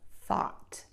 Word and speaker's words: thought: word with that and then we're gonna have the open short ah oval mouth wide open that allows the tongue to get low in the mouth the tip of the tongue low and the back of the tongue to be pulled up so we have